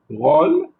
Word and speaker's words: drôle: On retrouve souvent un accent circonflexe sur le O qui précède les finales, donc les mots qui se terminent par LE, ME et NE. Lorsqu'on dit finale, ça veut dire que le mot se termine avec ces finales. Ce qui donne un allongement dans la prononciation.